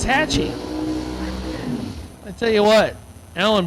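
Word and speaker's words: Waxahachie: pronounce it waahi waah Hatchi you told me wrong you said you said Hatchi it's Hatchy I tell you what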